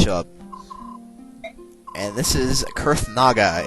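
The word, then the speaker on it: Kurthnaga: And this is Kurth Naga. It's a very strange name, but that's how you pronounce it, is Kurth Naga.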